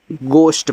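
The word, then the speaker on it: ghost: मतलब सफेद होता है जी ओ ई एच टी देखो इसको घोस्ट नहीं पढ़ते हैं इसको घोस्ट पढ़ते हैं यहां पे आपका एच साइलेंट है और घोस्ट का मतलब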